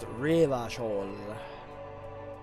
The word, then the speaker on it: Revachol: Revachol is pronounced Revachol. It needs to tell you to roll your R. If you're not rolling your fucking R, you're not saying it right.